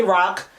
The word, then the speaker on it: ROC: guys really pronounce it I say rock some people say ROC we're saying rock today honey but I really love